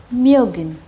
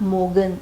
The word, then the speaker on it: mögen: Wollen, mögen. It is not mogen, it is mögen.